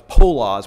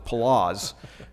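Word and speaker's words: Poloz: pronunciation of his name I thought it was polos but it's palazz the governor of the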